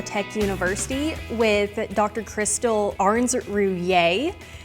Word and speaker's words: Ahrens Rouillier: Crystal Arn Ruier.